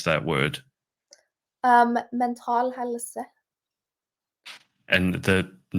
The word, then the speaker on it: Mental Helse: I don't, how do I pronounce that word? Mental helse.